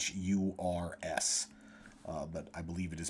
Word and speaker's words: Uyghur: They are a Muslim people in China, and it's spelled Uyghurs.